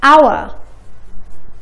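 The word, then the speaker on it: hour: ولكن استمعوا لهالكلمتين. our. honor. حرف ال H ما نطقني ما في صوت ه.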